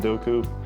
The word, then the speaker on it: Doku: So uh it's a big opportunity for them and I wouldn't count him out for sure with Holland and Doku. Definitely could cause problems. Yeah, Douku, right?